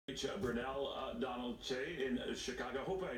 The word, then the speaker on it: Brunel Donald-Kyei: It's Brunel Donald-Kyei.